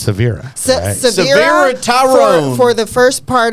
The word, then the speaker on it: Sevara: e v a r a and that's actually pronounced Severa tyone for the first part of this segment